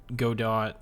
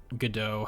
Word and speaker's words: Godot: I've tried Unity, I've tried Godot, Godot, however you want to pronounce it. I'm probably going to call it Godot.